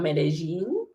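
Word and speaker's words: Medellín: It's called Medellin, and it's Medellin, but you pronounce it double L's with a like a kind of J accent.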